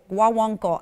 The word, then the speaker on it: guaguancó: Guaguancó, guaguancó. Yeah, I'm never gonna pronounce it right.